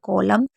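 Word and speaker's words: column: इसके बाद एन कब साइलेंट होता है, अगर कभी भी एम और एन साथ में होगा तो एन हमेशा साइलेंट होगा, बहुत सिंपल है। एम और एन साथ में होगा तो एन को नहीं पढ़ेंगे, जैसे कॉलम, सोलेम, dam, autumn, him, ऐसे पढ़ेंगे कंडेम।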